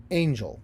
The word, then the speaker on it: angel: is the word Angel so when we say it we say it Angel first syllable stressed second syllable unstressed and then unstressed second syllable is just oh it's just it's that schah sound it's the unstressed vowel sound angel I don't